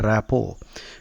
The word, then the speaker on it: rapport: The T is silent. Rapport.